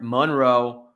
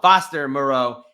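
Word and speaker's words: Moreau: doing that with Foster Monroe anytime Moro excuse me let me say his name right hold on Foster Moro anytime touchdown at plus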